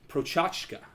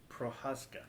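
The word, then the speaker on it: Procházka: And his name, I believe, is Yuri Prochazka. Prohaska.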